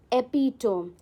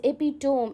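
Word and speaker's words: epitome: सो हमारा next word है एपिटोम. एपिटोम इसको कैसे प्रोनाउंस करते हैं? एपिटम. ओके. जो बहुत लोग आप ना इस वर्ड को सुनोगे तो दे pronounce as एपिटोम. इट्स नॉट एपिटोम, इट्स एपिटमी.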